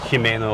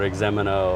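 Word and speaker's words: Ximeno: It's just like Jimeno or Exemeno or Juanapero, which drives me nuts. Juanapero. Because the Spanish word, it's junipero. Yeah, Junipero, yeah. Say the word, junipero. Yeah, but it's same with Exemeno. Right. Jimeno. Yeah, but no one will know. But No. when you say Exemeno, they'll know exactly what it is.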